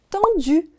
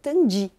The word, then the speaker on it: tendu: Mas aqui no Brasil eu ouço muitas pessoas dizerem tendi, o que tudo bem também, não tem problema nenhum. Mas caso você queira saber como é a pronúncia original, é tendu.